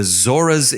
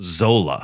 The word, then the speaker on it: Zora: was weird is um the zoras in the third episode were pronounced zola z-o-l-a instead of z-o-r-a not sure why there